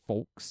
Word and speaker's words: folks: There are people that hate that I say folks and pronounce the L.